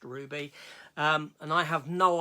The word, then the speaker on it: RWBY: this universe called Ruby RWBY I pronounced Ruby um and I have